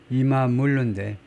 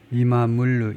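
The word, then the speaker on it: İmamoğlu: 그 사람이 애크름 이마물루인데 이마물 이게 터키시 발음으로는 하여튼 뭐 이크럼 이마물루 이마물루쯤 되나 봐요.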